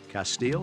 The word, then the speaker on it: Castile: is our special guest michelle castile is that how you pronounce it yes sir cool mother uh daughter